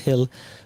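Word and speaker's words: Gil: I think the G is pronounced Hill.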